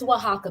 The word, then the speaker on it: Oaxaca: of the place you said oaxaca mexico it's oaxaca but i'm going to spell it for you because when i when i